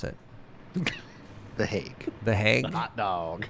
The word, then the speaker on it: The Hague: How do you pronounce it? The Hague.